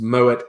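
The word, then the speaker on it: Moët: arm now that's it you pronounce the consonant if there's a vowel after it so it would be lil a block but nope the full name of the mode champagne is moet and Chandon notation doll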